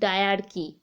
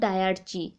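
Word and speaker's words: dyarchy: Next দেখো, এই যে ভাগ হয়ে গেল federal list and provincial list, এই সিস্টেমটাকে বলা হয় যে ডায়ার্কি অর ডায়ার্চি, যেটাই উচ্চারণ করবে।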